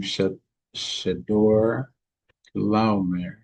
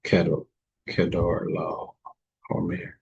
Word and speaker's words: Chedorlaomer: And in the 14th year came Shedor Laomer. Let's see what the actual pronunciation is. Yeah, Kedor Laomer.